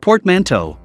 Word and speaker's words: portmanteau: take a look at portmanteau words pronounced portmanteau the word refers to